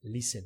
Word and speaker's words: listen: placement test so often notice that that is not pronounced okay like listen you don't browse the t listen so often depending